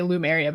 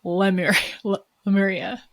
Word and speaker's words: Lemuria: connected to Lumeria too lemuria I would say Loom area but it's lemuria I know I'm gonna